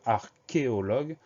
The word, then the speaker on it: archéologue: Le son que de archéologue s'écrit CH.